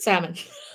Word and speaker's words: salmon: yourname Jeremy Jeremy um I think it's salmon like s a l m o n but I don't know if you pronounce it salmon yeah no no no